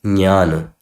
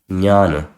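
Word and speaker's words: ज्ञान: So you pronounce this as jnana, jnana. A bit of ja and a lot of nya, jnana. And this word this word does not pronounce as pragya.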